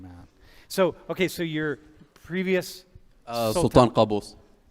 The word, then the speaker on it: Qaboos: Yeah, So you're the previous sultan, who was Sultan Qaboos. how do you pronounce?